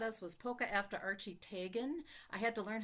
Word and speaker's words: Teigen: Another one she taught us was Polka after Archie Teigen. I had to learn how to pronounce Teigen correctly.